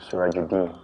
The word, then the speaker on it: Surajuddin: Full pronunciation Arabic way is Surajuddin.